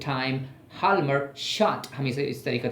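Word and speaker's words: Hjalmar Schacht: वन ऑफ the great economist of the time, हाल्मर short, हम इसे इस तरीके से प्रोनाउंस करते हैं, शॉर्टली कहते हैं, हम शॉर्टली कहते हैं।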